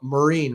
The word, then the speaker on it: Marine: But Marine, right? Marine. Right. But Marine. Marine. all good. I had it All and then good. I lost it and now I've got it again. So Marine.